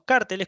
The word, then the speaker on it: cárteles: competencia bueno y los cárteles alguien sabe lo que es un cartel bueno los carteles con acento en la no un cartel que es otra cosa los carteles son precisamente